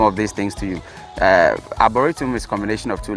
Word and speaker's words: Arboretum: Am I pronouncing it well? Yeah, it's Arboretum.